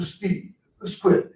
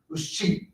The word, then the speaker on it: escheat: And if we can't find the Paul heirs, then we go through a process called the SQUIT, actually it is. It's ESCHEAT, was cheat, they pronounce it.